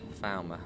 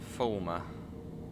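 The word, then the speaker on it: Falmer: ago found my senseless falma not former has a lot of Northern people say Where's fulma falma another funny one's Lewis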